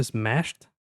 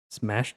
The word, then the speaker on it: smashed: Olha só essa palavra, a pronúncia smashed. Smashed. E por mais que termina na escrita com d, aqui o som termina com som de t quando você vai pronunciar a palavra. Então fica smashed, smashed, depois ript, ript,